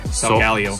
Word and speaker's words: Solgaleo: How do you say that one? Solgaleo. Solgaleo, okay.